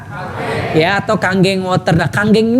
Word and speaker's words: Kangen: atau Kang geng motor kanggeng ini bukan kangen bacanya Bapak Ibu sekalian ya kebetulan maksudnya Andika pula kayak nama sebuah band gitu kan Andika ya itu oke nah bacanya kanggeng artinya back to Origin